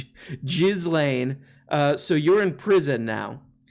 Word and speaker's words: Ghislaine: Ghislaine, so you're in prison now.